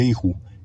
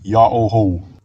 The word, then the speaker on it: Jehu: Ang tamang pagbigkas dito ay hindi Yehu, hindi Jehu, ito ay Yaoho.